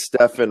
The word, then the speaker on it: Stefan: I apologize yeah Chris we say it's Stefan rhymes with effing definitely left with f and I like that